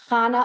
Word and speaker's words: Chana: So it's pronounced Chana Alav Shalom Bas Aaron Leib Sheyechia.